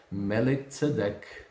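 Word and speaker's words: מלכי צדק: chamado de melchizedek que o nome original dele é melek cedek ou então melek Rei cedek Justiça rei da Justiça então o nome pronunciado em hebraico deveria ser assim melek ao invés de melquizedec só que no português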